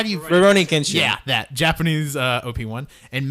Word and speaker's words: Rurouni Kenshin: 1 versus the 10 seed the I can't pronounce Kenshin. How do you Rurouni Kenshin.